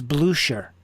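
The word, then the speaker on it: Blücher: you John blucher blooker well in Saxony or in southern Germany if there's an umlaut in this case over the U which there is in blooker it's actually means that you pronounce the ch like an sh so it's blue sure but that's only with the the Saxon and Southern German accent that's why people get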